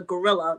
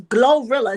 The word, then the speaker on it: Glorilla: I always call her Gorilla, but it's Glorilla. It sounds like I'm calling her a gorilla.